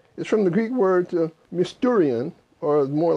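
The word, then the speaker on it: μυστήριον: The word mysteries is from the Greek word mysterion, or more like mysterious, but it's mysterion is how you pronounce it, or mysterion is, I think, the actual pronunciation in the Greek.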